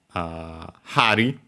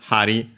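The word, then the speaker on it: 針: And yeah, on its own, Hari. Accent on the first mora.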